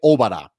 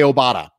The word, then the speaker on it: Obada: signed fa obada they specifically said it was pronounced fa obara and if you've listened to my pod previously that's the way i've been pronouncing it i have been pronouncing it fa obara because that's the way it was emphasized on